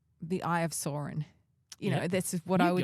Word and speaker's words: Sauron: Why it sounds so sour when you say it? The Eye of Sauron. Well, I don't know how Tolkien said it, but that's how they say it in the movies.